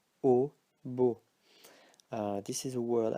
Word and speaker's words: eau: So it's pronounced O, and these ones are pronounced O as well. So gâteau, eau, beau.